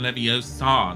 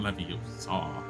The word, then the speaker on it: Leviosa: remember when she said it's wingardium leviosa not lovey you saw maybe oh sad not